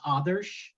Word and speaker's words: Adarsh: uh just to clarify my name is pronounced others it's like telling the animal an otter to be quiet so otter it's a it's a